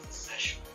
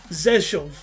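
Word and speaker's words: Rzeszów: It's pronounced Zeshov. Zeshov. Zeshov. Okay, it's pronounced Zeshov. It's good the stream can hear. Zeshov. Z, not V.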